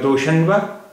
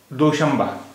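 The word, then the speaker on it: دوشنبہ: Here noon is between sheen and bay, and this noon is being pronounced as ma instead of na. Instead of doshanba, it is pronounced as doshamba.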